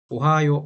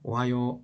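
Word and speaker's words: おはよう: 해보겠습니다 오하이오 고자이마스라고 하죠 오하요 오하요 오하이오라고 합니다 오하요 오하요 오하요 실제로는 이게 오하요우라고 읽어야 돼요 이거 자체는 오하요 우죠 근데 요하고 우가 같이 붙어서 우가 자음 처리가 돼요 그래서 얘는 그냥 읽을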